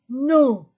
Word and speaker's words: nos: Pluriel de notre, nos, votre, vos, leur avec S. Et je ne prononce pas la lettre S. Nos, vos, leur, maison, pluriel.